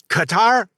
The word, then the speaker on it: Qatar: I've always thought it was correct by cutter, but it because the smart people have said that, so I'm like going, "Okay, yeah, I I'm with you."